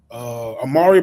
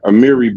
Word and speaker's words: Amiri: Amari Baraka, right? And he opened up a center. Amiri Baraka. Okay, I might be pronouncing it wrong.